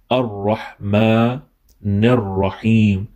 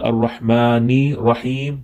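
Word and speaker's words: الرحمن الرحيم: Once again, Rahman and Rahim is wrong. Ar-Rahmanir Rahim. Ar-Rahmanir Rahim. It's not Ar-Rahmani Rahim. That would be incorrect.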